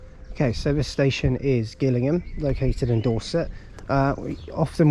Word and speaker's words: Gillingham: just a moment okay so this station is Gillingham located in Dorset uh often when you hear the trains get announced here they it is pronounced Gillingham Dorset uh the reason is is because uh